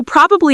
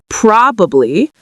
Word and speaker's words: probably: Well, the first part is where we have the stress, where we say it's stronger and louder and longer. There's actually 2 different pronunciations of this. You can say probably with 3 syllables, probably, probably, or you can say it in conversation with 2 syllables, probably, probably, or probably. You will hear people use both.